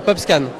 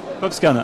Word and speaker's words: PopScan: Alors comment on prononce déjà le nom de votre start-up? Ça s'appelle PopScan. PopScan.